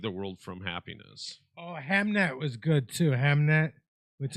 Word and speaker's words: Hamnet: Yeah, but the movie's called Hamnet. The Running Man was really good. Five Nights at Freddy too. So it's spelled Ham. Yeah. E-T. Hamnet. Hamnet.